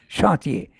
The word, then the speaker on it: chantier: work, left in the chantier, this word has to be pronounced in the French way, you are right, chantier, of the bottomless world, and stolen by the robbers of the deep.